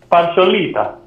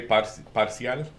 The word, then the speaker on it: parcial: Partiolita. That's a little partial. That's not how you say it, my guy. No? I'm kidding. Yeah. Partiolita. It looked Italian, so Yeah, that sounds Italian. Mon ami, les I'll be- Italiens. No, you say parcial, but like it doesn't Parciale.